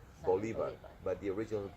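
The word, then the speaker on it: Bolívar: They Americanized it. Simon Bolivar. Bolivar.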